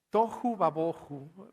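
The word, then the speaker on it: תֹהוּ וָבֹהוּ: de esta forma adelante toju Babo Perdón tocu babó jueza es la la forma en que se pronuncia y es medio divertido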